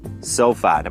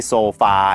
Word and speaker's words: sofa: Sofa ก็ จะ ออก เสียง อย่าง นี้ ครับ Sofa ไม่ ใช่ โซฟา อย่าง เงี้ นะ ฮะ แล้ว ก็ เชื่อม กับ